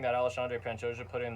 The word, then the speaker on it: Alexandre: wonderful Brandon Royal challenges alandre Pantoja I learned how to say his name Alexandre that's one of the only names I've ever struggled to say in my entire life Al Andre panta the cannibal